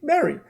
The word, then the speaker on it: very: And you have to go like this. Very. You have to feel the teeth touching your lip, and then you will slowly pronounce it.